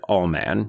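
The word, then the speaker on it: Ullman: aka All Man, because they frequently pronounce it all man, not man. Like all man, he's all man.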